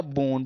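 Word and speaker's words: boon: पे double O एन, तो यहाँ पे हम लोग ऊन यानी कि बड़े ऊ की मात्रा का उच्चारण करेंगे। जैसे आपका बी में जुड़ा ऊन तो ये आपका हो गया बून।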